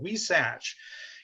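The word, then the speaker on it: huisache: around here what is the scientific name for we satch so we satch yes thank you sherry and there you go and it's spelled h-u-i-s-a-c-h-e it's a it's a spanish name so so no surprise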